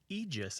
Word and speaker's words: Aegis: really good question Ross the most common pronunciation of the word AE g i s is egis and that's the oldest pronunciation too Martha I think that you probably grew up saying egis right I did indeed